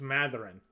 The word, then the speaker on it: Mathurin: And I'll pronounce his name correctly, fine. Apparently it's Mathurin. I just looked up the pronunciation there. Mathurin. I listened to him enunciate it, and it was Mathurin.